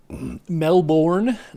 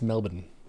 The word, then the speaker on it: Melbourne: But apparently that is the most incorrect pronunciation. Yeah. Melbourne? No, it's Melbourne.